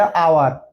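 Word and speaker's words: hour: Vowel sound আসতেছে আ, এখানে এই অনুচ্চারিত, তাহলে আওয়ার, উচ্চারণ কিন্তু এটুকুর হচ্ছে, তাহলে অ্যান আওয়ার।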